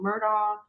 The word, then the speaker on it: Murdaugh: Murdo and if you guys heard of the Murdo murders, yes, that's my last name is spelled that way.